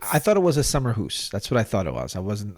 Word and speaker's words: Akershus: sure sure you know it is summer hoose but I get made fun of often when I say it correctly so I thought I'd go for the common pronunciation tonight well when you